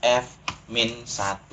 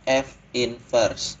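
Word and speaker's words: f⁻¹: pangkat negatif satu tetapi jangan pernah bilang dia F min 1 ya jangan disebut F min 1 bacanya F invers dari Hai Nah jadi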